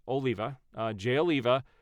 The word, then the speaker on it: Oliva: it says Jay someone said his name is pronounced Oliva uh Jay Oliva said Zack Snyder's DCU would